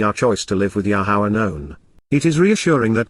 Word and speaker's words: Yahowah: Because indeed, KY, for the express reason, on behalf of, La, during the approach of, Yahowah, the proper pronunciation of the name of Eloah, God has directed in